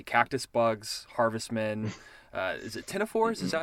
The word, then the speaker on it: ctenophores: Is it ctenophores? Is that how you say it? Ctenophores? Ctenophores. Even though there's a big C at the beginning.